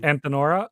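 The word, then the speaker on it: Antenora: Okay, just for the pronunciation of the end of the line. Antinora.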